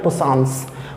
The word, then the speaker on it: puissance: फिर जर्मन में इसे बोला गया पोटेंस, और फ्रेंच में इसे बोला गया पोसांस। पोसांस इसकी स्पेलिंग है SANCE, पोसांस।